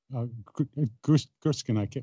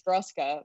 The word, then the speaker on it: Gruska: play your very first Tiny Desk concert with Gurskin. Why can't I? Ethan. Because right? I fuck it up in this. I was so nervous. Yeah, right, his name is Gruska, but I mispronounce it.